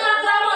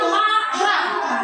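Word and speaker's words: makrame: Ya, kalau misalnya magram tapi kita bacanya makram ya.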